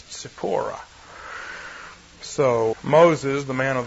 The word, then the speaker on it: Tzipporah: We spell it with a Z, but if we were transliterating more accurately, it would be a TS, Tzipporah.